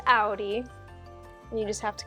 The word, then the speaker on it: Audi: we don't sell those it's like it is pronounced Audi and you just have to kind of find